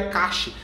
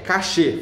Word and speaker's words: cache: Não, é cache, cache. Não, gente, é cachê. Fala cachê, pronuncia como cachê, tá?